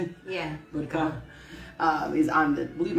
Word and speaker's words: Butker: football player, Harrison, I don't know how to pronounce his last name, Butker, Harrison, how do you say it? Yeah. Butker.